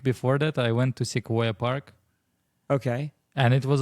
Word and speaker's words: Sequoia: Yeah, it's Came up- Sequoia. Yeah, you said it right. I just didn't recognize what Sequoia was, to be honest.